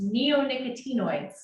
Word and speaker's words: neonicotinoids: are going to ask this very long word is pronounced neonicotinoids I'm sorry I didn't